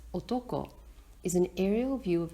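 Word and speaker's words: 男: woman with her legs crossed the male country pronounced Otto ko is an aerial view of a rice field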